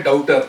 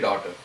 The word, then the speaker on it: daughter: is, you can say daughter also, isn't it? Logically. But by pronunciation, generally we say daughter because the G and this one is silent.